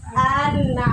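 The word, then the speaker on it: أنعمت: boleh menahan-nahan huruf mim contoh cara baca yang kurang tepat anamta Betul tidak salah salah yang betul adalah anamta anamta nah juga tidak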